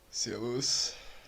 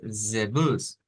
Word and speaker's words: Servus: za, aza, Cuando regresamos aquí y vemos la pronunciación que se encuentra grabada acá, Servus. Servus. nótese que dice zebus, zebus, zebus, con la z, zebus.